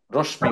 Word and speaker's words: রশ্মি: উচ্চারণ করে রশ্মি ওকে রশ্মি বলে উচ্চারণ হচ্ছে রশ্মি মানে আপনারা মানে মকি শেষে তো ম এর উচ্চারণটা একেবারে হালকা হবে নাসিক্য বর্ণ যেহেতু তো মনে রাখেন একটা